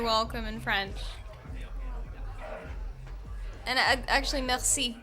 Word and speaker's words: merci: And actually, merci also has that kind of like, you hear it? It's just like you like catch your tongue in the back of your mouth to make like an R sort of sound.